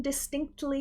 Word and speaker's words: distinctly: In natural spoken American English, that T might start to fade. Distinctly, distinctly. I almost kind of skip over it.